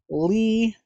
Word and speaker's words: Lea: Yes, this is how you spell Lee. When uh when I first saw this name, I I I was also like, how do you say that? Isn't Lee L E?